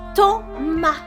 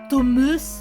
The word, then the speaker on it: Thomas: Ça se prononce Thomas, pas Thomas.